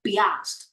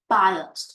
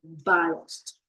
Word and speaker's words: biased: it looks so confusing people are going to pronounce this word like be last but no biased okay biased so let's uh let's